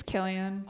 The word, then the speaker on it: Cillian: with a hard Killian. sound. Okay. Yeah. Well. Yeah. Hey, the more you Pronounced know.